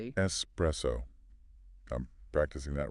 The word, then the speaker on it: espresso: There is no X sound, no X sound in that word. It's a hard s. Mastering this one subtle sound elevates your perceived competence immediately. Espresso.